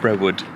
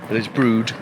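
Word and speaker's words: Brewood: And um for a good couple of years, we have been pronounced it Brewwood or Brewwood. We have Brood.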